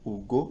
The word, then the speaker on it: Hugo: Para não me corrigir antes, até porque é uma pronúncia francesa, então vai ser Victor Hugo e não Hugo.